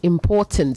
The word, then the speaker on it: important: Important. The stress on the last syllable is weak, so it's important, okay?